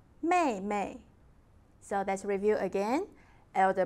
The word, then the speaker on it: 妹妹: Younger sister, 妹妹, 妹妹. So let's review again. Elder brother, 哥哥, 哥哥. Elder sister, 姐姐, 姐姐. Younger brother, 弟弟, 弟弟. Younger sister, 妹妹, 妹妹.